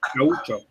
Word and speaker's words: gaúcho: And you say gaúcho. In Portuguese, gaúcho. Yeah, in Portuguese, no matter where you go, you will hear people say gaúcho.